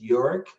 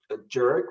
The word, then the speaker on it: Jörg: a very german name my name is yorick uh sometimes people when they read it they try to spell it a jerk which is not the right spelling so um i'm i'm